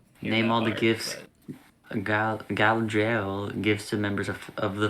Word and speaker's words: Galadriel: How was my pronunciation? Was I on point? Galadriel.